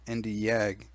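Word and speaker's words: Nd:YAG: another commonly used laser known as the nd YAG pronounce nd YAG the nd YAG laser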